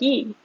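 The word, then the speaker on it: 이: So she Because released, it's either Lee or E, and yeah, I think in Korea it's technically E, yeah, but of course they put an L in front of Lee yeah, in Romanized words.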